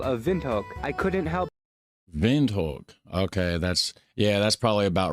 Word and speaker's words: Windhoek: Windhoek. Okay, that's probably about right because the W is pronounced kind of like how we would pronounce like a V or whatever over here, right?